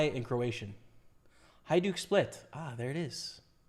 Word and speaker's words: Hajduk Split: Hajduk Split. Ah, there it is. J is pronounced Y. Hajduk Split.